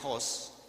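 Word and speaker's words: ὅς: se le puso Dios es no es Host pronuncia Host y significa dice incluyendo el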